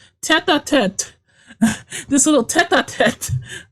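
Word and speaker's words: tête-à-tête: Tater Tate. That's what it says. But if head to, it means head to head? No, it is pronounced tete a tete.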